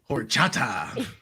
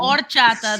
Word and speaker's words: horchata: Horchata. Horchata. Is the P silent? Horchata. The H is silent.